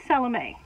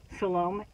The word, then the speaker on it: Salome: it this is Salome Salome Arizona spelled the same pronounced different which I found out